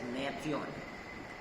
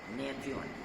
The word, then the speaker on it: Gnathion: This is known as Natheon. Natheon. The G is silent. Gnathion. Natheon.